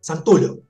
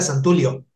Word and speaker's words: Santullo: La pronunciación es italiana, es Santullo. Lo que pasa es que en esta parte del mundo, de hecho en México era Santulio, y acá ha sido Santullo, Santullo, pero no, se pronuncia Santullo, porque viene de alguna parte de Italia, no tengo muy claro